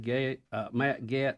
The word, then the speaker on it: Getz: You want to start with Matt Getz, 5A? Yeah, 5A, Adler. Pull that one up. And did we ever learn how to say his last name? It's Getz. Is it Getz?